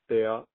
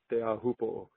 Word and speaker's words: Teahupo'o: Proper way to say it is Teahupo'o. Teahupo'o.